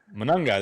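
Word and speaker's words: Monangai: Manungai.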